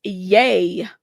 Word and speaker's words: Ye: It's pronounced yay.